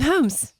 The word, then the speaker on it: Holmes: Homes. Am I saying that right? Is it like Pam with an N type of thing? Homes. The L is silent.